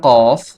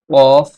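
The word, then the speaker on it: قاف: এই হরফটির নাম হচ্ছে কফ। কফ, কফ হরফটির মাখরাজ হচ্ছে জিহ্বার গোড়া তার বরাবর উপরের তালুর সঙ্গে লাগিয়ে উচ্চারিত হয়।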